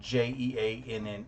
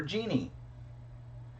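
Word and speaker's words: Jeane: And uh, her name is spelled J E A N E, which could be pronounced either Jean or Jeanie.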